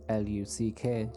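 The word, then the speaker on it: Lugh: The story varies from storyteller to storyteller, but some say his name comes from the Celtic god named Luc, L-U-G-H, which is pronounced L-U-C-K, Luc, which is where the leprechaun gained a reputation for being lucky.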